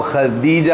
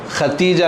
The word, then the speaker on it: خدیجہ: ہمیں بولتے ہیں، حالانکہ وہ خدیجہ ہے، دال ہے، ختیجہ نہیں ہے۔ ہمیں بولتے خدیجۃ الکبریٰ رضی اللہ تعالیٰ عنہ، ختیجہ کہتے رہتے۔ ختیجہ نہیں ہے بلکہ خدیجہ ہے۔ یہ ذرا ہم اس کی تلفظ صحیح کر لیں، خدیجہ ہے، خدیجہ رضی